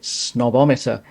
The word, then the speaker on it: Snob-O-Meter: This is the snobometer tag, and I'm probably already setting myself out as a snob by pronouncing it snobometer.